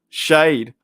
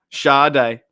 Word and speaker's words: Sade: a bloke wait so so how do you pronounce her name shade Shaw day oh there you go